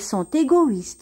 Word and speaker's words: sont égoïstes: gentils elles sont égoïstes ici aussi on va faire la liaison parce que nous avons l'adjectif qualificatif égoïste qui commence par une voyelle donc on va faire la liaison on va dire elles sont égoïstes ans alors égoïste ça veut